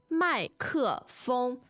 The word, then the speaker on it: 麦克风: It was, except that the tones are slightly tricky. What are they? 麦克风 two fourth tones and a first.